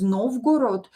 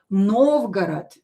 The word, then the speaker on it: Novgorod: Again in English you will say you will pronounce it is Novgorod but in Russian of course these two o's will be pronounced as a because they're not stressed. Novgorod.